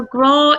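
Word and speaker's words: grá: So, graw is the Irish word for love.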